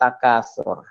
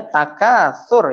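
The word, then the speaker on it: التَّكَاثُر: Alhaakumut takasur. Ingat ya, bacanya takasur ya. Bukan takasur. Ya, diusahakan sedekat mungkin. Bismillahirrahmanirrahim.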